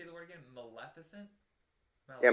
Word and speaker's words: Maleficent: Maleficent? Yeah, Maleficent.